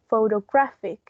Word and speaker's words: photographic: But in this case, we have the accent on the third one. So it's photographic. There's an accent at the beginning. No accent, so sorry. I am stuck with that word today. There's a stress in the first one, but it's not as prominent as the main one that it's on the third syllable.